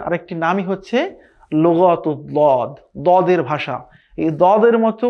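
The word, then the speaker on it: ضاد: সেখান থেকে একটি হরফ উচ্চারণ হবে। সেটি হচ্ছে দদ।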